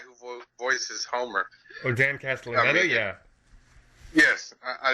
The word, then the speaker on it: Castellaneta: Castellaneta?